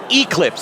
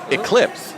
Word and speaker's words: eclipse: never hear Doc say Eclipse again. What's wrong with that? You're putting the emphasis on the wrong syllable. Oh, excuse me. It's Eclipse.